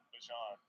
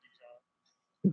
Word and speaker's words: Bijan: How you pronounce my name is Bijan. For everybody that's out there. I know a lot of people say Bijan. Bijan. It's Bijan, yeah.